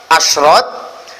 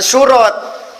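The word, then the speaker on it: أشراط: Nah, itu diantara tambahan ilmu mungkin malam ini untuk keapikan baca asrot jama' dari syarot. Dibacanya bukan surot, karena surot itu jama' dari surtoh. Kalau syarot wa asrot polanya sama dengan sababun wa asbabun.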